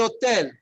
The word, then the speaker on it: hotel: El hotel. El hotel. El hotel. El hotel. El hotel. What did I say before, right? Here's an example of where the H is there, but you don't pronounce it.